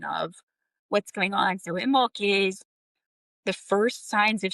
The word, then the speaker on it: Imbolc: Imbolc, and that's spelled Imbolc, or also traditional, it's Imbolg, Imbolc, but it's pronounced Imbolc.